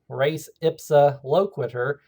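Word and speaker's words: res ipsa loquitur: We have another doctrine called race ipsoquitter. It's pronounced race ipsa loquiter or just race ipsa for short.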